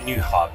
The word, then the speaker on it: Nyhavn: to run around so welcome to new hub that's how you pronounce it nyhavn exactly how you read it you just said